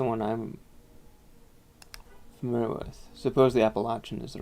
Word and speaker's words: Appalachian: yeah that's the one I'm familiar with supposedly Appalachian is the right way to say it and I call it Appalachian okay I think somebody's just stealing us the